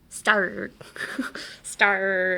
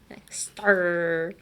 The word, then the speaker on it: star: Star. And then slowly bring it back to your vocal chords. Stop being a pirate. Star.